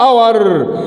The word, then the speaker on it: hour: خلي بالك من كلمه اور بدأ بحرف ايه؟ اتش بس ما بيتنطقش، فتاخد ايه؟